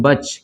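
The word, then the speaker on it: batch: है ना उसी तरह इसको पढ़ेंगे हम लोग बच क्या पढ़ेंगे इसको बचती साइलेंट हो जाएगा बच पढ़ेंगे ठीक है ना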